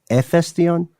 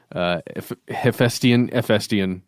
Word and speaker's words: Hephaestion: Hephaestion? I don't know. I heard via the internet that the H is silent, but I am no Hephaestion expert.